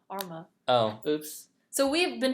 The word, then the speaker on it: Arma: Oh, it's pronounced Arma. Arma.